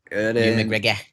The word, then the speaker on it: Ewan McGregor: There's a lot of nods to trains in there but yeah, I just knew How do you pronounce his name? Ewan McGregor? Ewan McGregor.